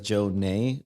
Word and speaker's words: Jonnè: So it's Jonne with an accent on the E. Okay. So it's like Jonnè. But yeah, I mean, so people call me Jonnè.